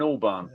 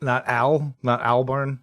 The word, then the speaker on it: Albarn: I think it's Damon Albarn. It's not Albarn. It's Al. I mean, I wouldn't say that. Okay. Doesn't make me right. Albarn, gotcha.